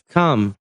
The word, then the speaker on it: calm: kalimatnya ya surpr tenang l-nya enggak dibaca jadi calm tenang she is very calm